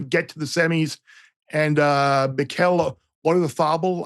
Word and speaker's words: Mikel Oyarzabal: Yeah, Portugal to win Portugal to get to the semis, and Mikel Oyarzabal, I believe, is the correct Basque pronunciation.